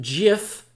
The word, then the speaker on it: Jif: key though is that the brand of peanut butter is pronounced jiff and that the image